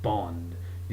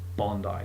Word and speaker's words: Bondi: attached to the word bond you know it's not bondy or some random that just sounds totally out of whack it's Bondi get it right not that hard and